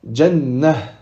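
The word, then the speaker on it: جنة: Si on s'arrête sur ce mot-là, on dira jannah.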